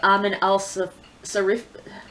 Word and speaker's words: Amin al-Sarafi: I'm pretty sure that next I'm going to tackle The Adventures of Amin al-Sarafi.